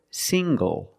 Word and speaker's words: single: good also this word single single the NG makes the nasal um sound plus the hard G sing go single I'm not single I'm